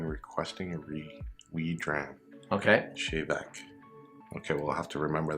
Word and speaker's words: Tè Bheag: Chevek. Chevek. The sweetness is stronger with the water. Give it a quick. Colloquial expression used in Gaelic when requesting a wee dram. Okay. Chevek.